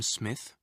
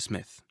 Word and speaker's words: Smith: Did you notice the Japanese pronunciation of the name Smith? Smith. Japanese doesn't normally allow for double consonants like SM, sm. You usually need to put a vowel between them.